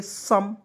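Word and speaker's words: some: आप बिल्कुल आसानी से ओ और ई को साइलेंट कर लीजिएगा तो देखिएगा एस ओ एम ई को क्या पढ़ेंगे सम उसी प्रकार बी यू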